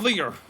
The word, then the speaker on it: Leo: It's written with the kanji for line to be sure but it's pronounced Leo.